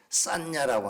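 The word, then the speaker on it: saññā: 상이라고 하는 말은 인도말에 산냐라고 하는 말입니다. 산냐 한번 따라서 해 보실래요? 산냐? 산냐? S a n 이렇게 쓰는 건데 산냐라고 읽습니다. 산냐라고 하는 말은 우리 말로 하면 고정관념 정도 되는 말입니다.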